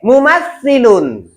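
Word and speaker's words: مُمَثِّل: Oke, mumassilun. Mumassilun. Ah, khamsu marratin, 5 kali ya, yang kuat. Lihat tangan saya. Mumassilun. Harfus ta. Ujung lidahmu kamu letakkan di belakang gigi seri bagian atas.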